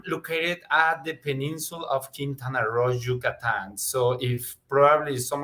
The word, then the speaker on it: Quintana Roo: And we know that Mexico has decided to put in a lot of investment in and around, how do I pronounce it? Quintana Roo? Quintana Roo, yes.